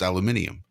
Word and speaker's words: aluminium: what you are saying you are pronouncing that word exactly correctly that is exactly how you pronounce aluminium however maybe you're just